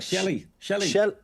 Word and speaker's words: Shelley: Shelley. It's like Shelley.